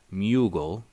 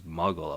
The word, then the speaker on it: muggle: first read Harry Potter I pronounced it mugle like bugle the the chips I don't even know if those chips are still around and then when the movies came out and it was muggle I was like H